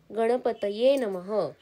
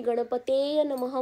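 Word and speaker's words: गणपतये नमः: प्रयत्न करणं गरजेच आहे जसं की गणपतय नमः कोणी कोणी गणपती नमः म्हणतात पण तो उच्चार चुकीचा आहे कारण की गणपती हा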